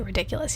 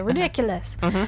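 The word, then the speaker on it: Riddikulus: how you say it you don't just say ridiculous you say ridiculous and very dramatic and wizardly so I had to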